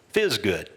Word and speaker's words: FSGD: What we called this was FSGD, which stands for frequent, small, good, and decoupled, which we affectionately pronounced fizz good.